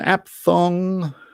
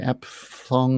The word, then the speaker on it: aphthong: south africa question 14 what is an app thong ironically a p h t h o n g app fong lots of letters in there you can't really pronounce an aphthong is a silent letter question 15 two albums